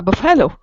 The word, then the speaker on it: buffalo: my brother, especially he ride on a buffalo. Oh, He, buffalo. Okay. buffalo, yes, buffalo, Buffalo. yes, Fir- buffalo. First syllable stress.